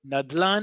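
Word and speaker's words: נדלן: It will be written as an acronym and it will be pronounced as nadlan. It will not be No one will ever talk to you as a um renter, as an agent, no one will ever say neches dela nayad. Never.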